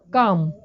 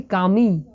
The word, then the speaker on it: come: কিভাবে দেখো, কাম এখানে কিন্তু কোনো ইর কোনো সাউন্ড হচ্ছে না, অর্থাৎ ইর সাউন্ড সাইলেন্ট। আমরা কি বলি কামি? বলি না, বলি আমরা কাম, COM।